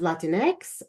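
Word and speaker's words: Latinx: Hispanic populations and so I add the letters a for Latin X to pronounce it as Latin X or uh the the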